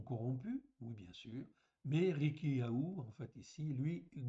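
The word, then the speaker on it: חִלְקִיָּה: Donc ici, c'est Rilkiya, donc il y a un petit en fait ici, une petite apostrophe devant, parce que ce n'est pas un H, c'est un ret. Donc, ça se prononce Rilkiya, en fait ici tout simplement.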